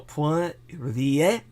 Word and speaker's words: Poirier: So Poirier would be the French way to pronounce that.